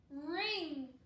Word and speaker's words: wring: And how is ring spelled? What's at the beginning? W-R. It has a silent letter.